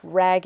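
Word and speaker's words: Wragge: Ragge, and Ragge is spelled W-R-A-G-G-E.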